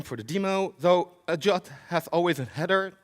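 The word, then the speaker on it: JWT: that a drop I don't know why we pronounce that a jot but we say drop so jot is basically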